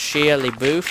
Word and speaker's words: Shia LaBeouf: I think it's pronounced Shia LaBeouf or something like that.